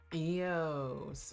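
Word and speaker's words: Eous: Eios. Okay, so that's how they're pronouncing it.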